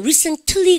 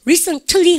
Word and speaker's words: recently: 여러분들 recently 그래서 t 사운드를 다 강조하면 British입니다. 근데 미국 애들은 유성음화 시켜서 recently 혹은요 recently 했다가 recently 그래서 t 발음 완전 무시하는 미국인이 많아요.